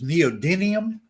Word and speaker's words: neodymium: you as in my class too the correct pronunciation is neodymium at least that's the u.s production pronunciation in